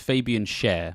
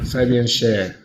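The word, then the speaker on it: Fabian Schär: his name but uh I believe it's pronounced Fabian Sher it's like the sing yeah Fabian share okay so um these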